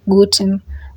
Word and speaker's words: guten: That e is silent. It is not pronounced. So you just say gooden morgan.